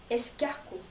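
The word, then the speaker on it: escargot: 에스코 에스코.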